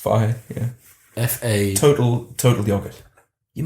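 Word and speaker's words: Fage: Is that how it's pronounced? Fahe, yeah.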